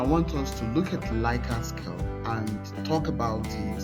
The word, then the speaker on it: Likert: Some people call it Likert. So whatever you call it, whether Likert, I call it Likert.